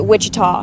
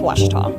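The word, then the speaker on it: Ouachita: for wasita Baptist University back in Texas everybody pronounces it Witchita but really it's wash wash wash how would you pronounce it wash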